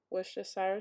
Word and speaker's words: Worcestershire: So 1 cup of that, and then I'm going to add a little bit of Worcestershire sauce.